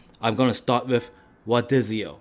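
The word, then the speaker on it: rodízio: Now, it is pronounced in Brazil with an H. Rodizio.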